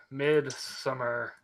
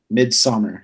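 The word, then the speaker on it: Midsommar: Wait, Midsummer. It's spelled Midsomer. Midsummer. So it's spelled like the Germanic.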